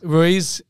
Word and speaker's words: Ruiz: Australian time you look at Spain Anda Williams for fantastic tournament so far Fabian rues Ruiz Ruiz that's how pronounce it yeah he's been